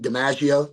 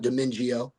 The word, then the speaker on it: DiMaggio: Chris Brooks, with those all those wideouts that we've gotten in, like JD DiMaggio. That's how you say his name, not Domingio or not, the Cajun in it.